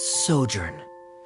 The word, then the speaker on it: sojourn: well is everything clear simos how do you pronounce this word let me see Ah that's sojourn it means to stay for a while this